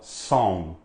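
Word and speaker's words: Psalm: fala o Salmo 134 esse P aqui é mudo você não fala são você fala som com alto aqui fechados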